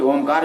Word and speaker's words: ओम: ओ, उ और मा। ये तीन शब्दों से बनाया गया है ओम।